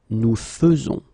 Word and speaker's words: faisons: E, as normally you should, but you will pronounce it like E. Nous faisons.